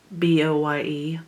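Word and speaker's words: Boye: this is a b-o-y-e boy i think is how it's pronounced i've had it forever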